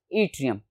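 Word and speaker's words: yttrium: ऑफ the element was त्रियम ठीक है students वा डबल टी से इसकी स्पेलिंग शुरू होगी लेकिन प्रोनंसिएशन इसकी है त्रियम और उसके साथ एक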